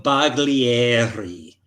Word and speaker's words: Baglieri: I would pronounce his name as Mauricio Baglieri.